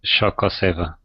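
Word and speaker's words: Xocoveza: Right here it's pronounced something like Shokoseva.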